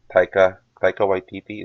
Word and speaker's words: Taika Waititi: I'm a lot more excited about this because it's Taika Waititi. Is it how you pronounce his name?